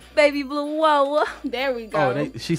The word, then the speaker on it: Baby Blue Woah: Baby Blue Woah.